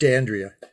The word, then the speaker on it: d'Andrea: it's it's pronounced andrea it's italian but i've americanized it it's just dandria oh okay there it